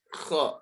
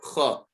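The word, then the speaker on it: خ: And also the letter kha, K-H, kha, kha. No letter sounds like letter kha.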